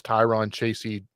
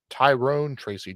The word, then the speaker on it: Tyrone Tracy: 87 is Tyron Tracy. Tyrone Tracy Jr., let me pronounce his name right at 87.